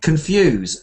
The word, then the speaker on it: confuse: listener we can confuse yes confuse stress on the second syllable they don't confuse their